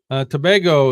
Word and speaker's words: Tobago: Tobago is pronounced Tobago.